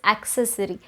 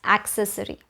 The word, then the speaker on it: accessory: On number 16, we have, how would you pronounce this? Is it accessory or is it accessory? It actually is accessory. We are so tempted to say accessory, but it's accessory.